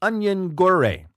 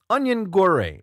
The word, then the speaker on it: Onyangure: Moses is his first name last name is onion gawre onion Gauri is how it's a pronounced I think I've done that did that